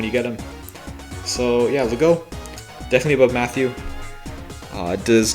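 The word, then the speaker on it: Legault: Next up is Lego, and I'm pretty sure that's how you say it. If you say Guy, like Guy, I think it makes sense to say Lego, like Lego, but you know, what do I know?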